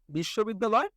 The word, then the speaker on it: বিশ্ববিদ্যালয়: বিশ্ববিদ্যালয়। তো যদি আমাদের বড় ওয়ার্ড আইসা পড়ে তাহলে আমরা কি করব? উচ্চারণ করে ফেলবো একদম সিম্পল। তাহলে আমরা এটার উচ্চারণ লিখে ফেলি। বিশ শো বেদ দা লয়।